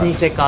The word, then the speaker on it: スニセカ: スニセカ 45 って書いて、はい、スニセカって読むんですけ